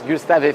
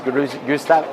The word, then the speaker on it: Gustave: Gustav, the French one is Gustav, right? The English one is Gustav.